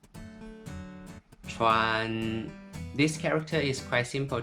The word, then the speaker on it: 川: It's pronounced in Mandarin, 川, 川.